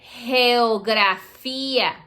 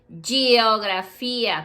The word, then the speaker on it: geografía: You can call that geografía. Say it. Geografía. Geografía. Don't say geografía, because la G is like a geografía.